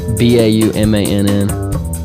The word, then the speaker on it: Baumann: BAUMANN. The second N is silent.